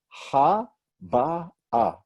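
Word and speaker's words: הבאה: 3 syllables, right? 3 vowels underneath, none on top, 3 syllables, silent Hey at the end. And that's the Hey, the Bet, and the Aleph, which is going to give us a stop between this vowel and this vowel. Ha, ba, ah. Right?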